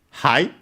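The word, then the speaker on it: はい: And at the bottom we have the options hi which means yes is the uh most common the fundamental word for yes in Japanese accented on the first syllable.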